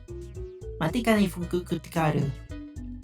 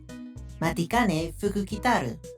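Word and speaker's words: Matikanefukukitaru: Matikane fuku tikaru. Huh. Matikane fuku kitaru. You gotta separate the syllables, you know?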